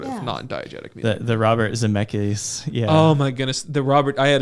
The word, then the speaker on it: Zemeckis: Robert Zemeckis.